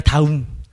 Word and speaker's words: 다움: 발음이 다음이 아니라 다움.